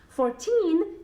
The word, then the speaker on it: fourteen: and 40 the difference between these two numbers was 14 the accent of the emphasis is at the end of the word and with 14 at